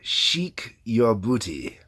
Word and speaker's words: Sheik Yerbouti: that is Frank Zappa Sheikh your booty I love the clever little word play on that one um it's spelled to sound like Chic your booty yeah not your booty